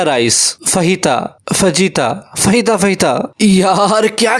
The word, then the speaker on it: fajita: ये है जी फजीता rice. फहीता फजीता फहीता फहीता, यार क्या कंफ्यूजन है। वैसे इसकी सही प्रोनाउंसिएशन फहीता है।